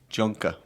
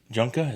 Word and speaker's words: Junka: There's actually a pronunciation guide on the website. Surprised you didn't know that. It's under roster. And it says how they say their names. So he says Junka.